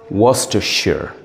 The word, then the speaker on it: Worcestershire: Sorry, that's a wrong pronunciation. The correct pronunciation is Worcestershire.